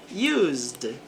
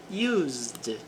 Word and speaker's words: used: The teacher used a diagram to explain the process. O professor usou aqui, não pronuncia o e porque o s ele tem som de z neste verbo. Used, used a diagram to explain